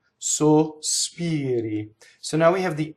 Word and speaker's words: sospiri: So in spoken Italian, you can put S on the first syllable. Sospiri. When sung Italian, if you have 3 notes for this word, the first word to sing it cleanly has to be all O, no S.